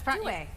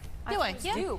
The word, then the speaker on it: Due: Is that how you pronounce it? Yeah, that's Dway. Dway. Oh, interesting. Most people say Duo a lot of times.